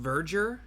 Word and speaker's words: verger: And it's it's pronounced Vger. God, that sucks. Could there not have been a better word? You could have. Verger is sometimes confused with Virger.